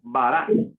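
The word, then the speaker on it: ברא: Entonces, ¿cómo se va a pronunciar? No vara, sino vara. Ok. Bará.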